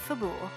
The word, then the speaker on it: Fabul: Also, to answer the question in chat, I pronounce it Fabul. Fabul. Fable's a cool way to pronounce it, though. So Natara 2 for 2 on these anti-dagger buffers.